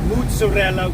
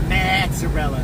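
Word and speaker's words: mozzarella: keep that domestically now you would think mozarella which is how it's pronounced or at least one dude on YouTube pronounced it not mazarella I call it Mella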